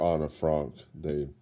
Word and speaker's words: Anne Frank: The actual situation, they actually tried to reproduce as much as possible the confined living space where Anne Frank was, or Anna Frank.